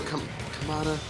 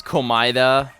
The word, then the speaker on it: Komaeda: I guess it's Komaeda, but Komaeda, Nagito, yeah, something like that. But it's it's weird. It's hard to pronounce in English.